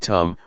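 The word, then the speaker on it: ธรรม: this now the damama in Tai pronounced in the same way as the word tum which means to do refers to Nature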